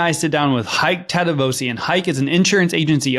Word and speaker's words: Tadevosyan: We are your host, Michael and Courtney Weaver, and we have a special guest with us today, Hayk Tadevosyan. Hayk, how are you? I am great, and you pronounced my last name perfectly.